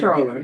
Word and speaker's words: comptroller: Comptroller, yes.